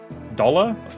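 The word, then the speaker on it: Dolhr: You pronounce it as doll. Really? A silent R.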